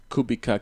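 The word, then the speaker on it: Kubica: it up on YouTube it's spelled kubika KU BCA but it's you know it's polish so it has kubit anyway so uh yes she's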